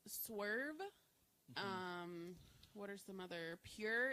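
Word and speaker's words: Pyure: Pure. It's spelled Pyuure.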